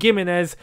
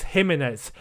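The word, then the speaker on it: Jiménez: much for those that reminded me of the pronunciation of his name it's not gimenez it's him in it um so yes thank you for that guys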